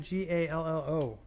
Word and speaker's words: Gallo: It's because the LL, the double L in Mexican-y. In Mexican. Yes, let us talk about the language of the Mexicans. The LL in Mexican-y is silent. It makes a ya.